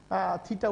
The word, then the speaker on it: থিটা: এই সমকোণী ত্রিভুজের, এই সমকোণী ত্রিভুজের ধরা যাক এই কোণটা থিটা, আমি একটু আগে থিটার থিটা উচ্চারণটা শিখিয়েছি তোমাদের, এটা থিটা।